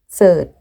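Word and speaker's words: คอนเสิร์ต: So, in this sentence, ใ ส ่ this outfit by concert. Yeah, in Thai accent. Concert. Concert. Concert. In Thai, we don't have the R sound as in English. Just cert. Cert. Concert.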